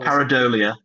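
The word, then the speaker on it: Pareidolia: Um I think the note that I wrote down last was I don't even know how to pronounce it. Help me Ian. It's Parolia. Paridolia.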